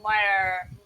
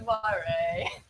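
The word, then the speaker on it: moiré: No, but I know what the Moyer, is that how you've been pronouncing it? I always knew it as, what is it? When a grid's misaligned with another behind, that's a moire. That's fair. I think I've been saying Moira, Moire.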